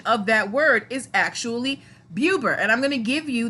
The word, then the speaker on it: BeauBer: and I asked you guys whether you would pronounce it uber or Bober thank you for the you Derek Bailey and